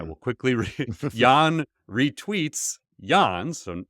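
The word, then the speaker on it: Yann: quickly re Yan retweets Yan so Yan it's the same it's spelled different um Yan w y Ann Yan laon and Yan likey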